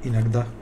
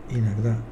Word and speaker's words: иногда: Иногда dice, y es иногда, no иногда, porque la O se convierte en A cuando no va acentuada.